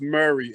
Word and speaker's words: Murre: are but it's pronounced murray it's spelled the way you're saying it but it's pronounced it's pronounced murray like keith murray type